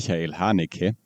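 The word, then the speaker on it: Haneke: I mean, if you want to have his name in German, it's Mel Hanik.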